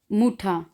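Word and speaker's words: Mutter: मुठा, इसको मुठर नहीं पढ़ना, मुठा। आर लिखने में आएगा और इसको हमने जब पढ़ना है तो आ में बदल देना है, ज़िया, मुठा, फाठा, फाठा।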